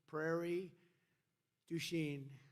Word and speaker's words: Prairie du Chien: we're here today in Prairie Du je is that a good yeah good pronunciation you could have given